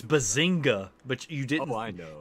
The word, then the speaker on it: Bazinga: How is that supposed to be bazoa? It's bazinga. But you didn't know. You didn't pronounce the g. You pronounced it so softly. It's like bazinga.